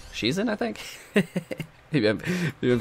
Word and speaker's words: Shizen: commented last episode saying stop saying shaizen it's she's in i think maybe i'm